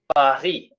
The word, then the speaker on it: Paris: Paris, S silent.